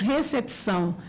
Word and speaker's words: recepção: Então ficou reção, por exemplo, nós pronunciamos recepção, né? Nós temos um P que não é mudo e a gente pronuncia. E a esse local de espera de entrada lá é recessão porque eles não pronunciam o P.